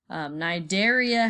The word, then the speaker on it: Cnidaria: section day called Nigeria Nigeria has a silent sea in front of it so just get rid of that sea and pronounce the word Nigeria actually there's a little